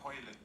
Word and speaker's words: Haaland: I thought you said Hoyland. Haaland. Yeah. Well, so I'm pronouncing it Norwegian. I'm trying to get into pronouncing it the Norwegian way.